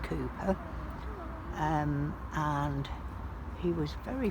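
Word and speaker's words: Cowper: united reformed church which calper but apparently pronounced cooper um and he was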